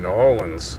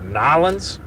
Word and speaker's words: New Orleans: Is I've been told if I go down there and I don't call it Nylons, you're probably gonna get stabbed in a alleyway.